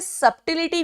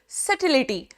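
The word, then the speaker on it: subtlety: सिलिटी इसमें B silent होता है। इसे सबटिलिटी नहीं बोलते। सर्टिलिटी।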